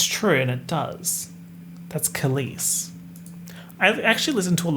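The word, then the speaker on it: Kehlani: reason just want to call her keyless like keyless entry to a car but i know she's kalis but when i see the name i'm like how do i pronounce this is it keyless same thing with espa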